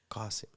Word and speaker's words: Qasim: It's the Arabic, the way you say it, and the name is Arabic. Yeah. So if the name is Arabic, say it like it's supposed to.